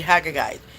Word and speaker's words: Agagite: That's how you pronounce it. The Haggagite.